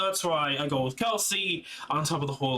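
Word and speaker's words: Kal'tsit: is what most people think that's how you pronounce their name it's kelsey as much as it's like what are you talking about seeing seeing hands with the translations and stuff like that it's kelsey that's what i'm basing it off from that's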